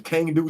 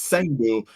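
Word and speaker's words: Cang Du: I used to call him Kangdu, Chengdu, but it's Sangdu.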